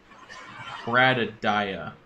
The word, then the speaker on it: Bradadia: By the way, my name is pronounced like Jeremiah. Bradadia.